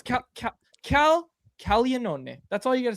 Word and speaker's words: Caglianone: It's Caglia, so g l i, which is actually pronounced g in Italian, but anyways, it's Caglianone cuz there's an n o n e and they just say Caglione.